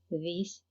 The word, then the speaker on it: this: يعني كنشوفوا كل هاد البروناونز they start with th plus a vowel. يعني فين ما كنشوفوا في أي كلمة th plus a vowel كتنطق ذ، يعني ذا العجمية اللي هي في اللغة العربية كيف ما كنطقوا ذهب أو ذئب.